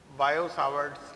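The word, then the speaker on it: Biot-Savart: अब इसमें देखिए, सबसे पहले हम लोग स्टार्ट करेंगे बायो-सावर्ट्स लॉ। ये इसमें टी साइलेंट होता है, टी, इसको क्या पढ़ते हैं? बायो-सावर्ट्स लॉ।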